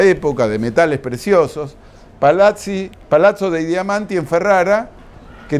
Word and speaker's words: palazzo: Palacio no nuestro época en italiano se dice palazzo palazzo Dey diamanti de